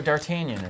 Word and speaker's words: Dartmouth: d a the arts how do you say this dart again mf says hey ttc oh dartmouth that's right yeah it says new